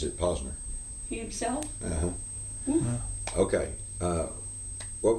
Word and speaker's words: Posner: Everybody's pronouncing it Posner. Well, he pronounces it Posner.